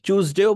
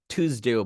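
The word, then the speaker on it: Tuesday: চুজডে যেটা বললাম মানে চ যেটা, সেই চয়ের উচ্চারণটা হচ্ছে ব্রিটিশ, বুঝতে পেরেছি, ব্রিটিশ স্টাইল, টিউজডে। আমেরিকানরা বলে টুজডে, টুজডে। আমেরিকানরা বলবে টুজডে, ব্রিটিশরা বলবে চুজডে।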